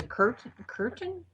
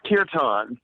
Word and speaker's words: kirtan: And then you have the curtain. Am I saying it right? Airtan. Oh, that's kirtan. That's right. So, I didn't say it right.